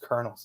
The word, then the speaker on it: Colonels: be Colonels right but it's pronounced kernels it's just insane but